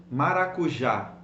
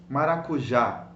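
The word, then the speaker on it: maracujá: know an acute accent the word maracuja it's a long word why don't we say maracuja and we stress the second last syllable because there is an accent over the last a so you say menorah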